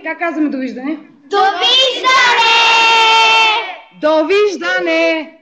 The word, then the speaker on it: довиждане: We say, как казваме довиждане?